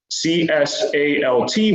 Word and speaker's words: CSALT: For example, the CSALT waypoint would be pronounced CSAL.